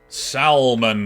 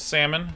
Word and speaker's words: salmon: the famed left shark salman moves to a new space for its worth i recognize that it's pronounced salmon but i don't give